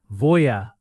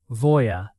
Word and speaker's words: voy a: Voya often sounds smooth and connected in real speech. Almost like one little chunk. Voya. But keep it clear in your mind as voy plus a plus verb.